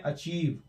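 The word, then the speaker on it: achieve: यहां पर भी अचीव में अचीव, ये अचीव है, यहां पर भी साउंड आ रहा है बड़ी की तरह।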